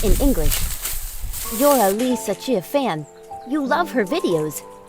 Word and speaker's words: Li Ziqi: How do you pronounce Li Ziqi's name? Li Ziqi, pronounced in English. You're a Li Ziqi fan.